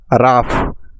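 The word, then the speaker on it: rough: মানে কঠিন next word রাফ আর ও ইউ জি এইচ রাফ আর তে র ও ইউ জি এইচ আফ র আফ রাফ রাফ মানে রুক্ষ নেক্সট শব্দটি হলো ইনাফ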